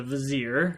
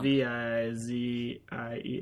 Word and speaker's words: Vizier: Well, you could do hashtag rhymes with a brazier.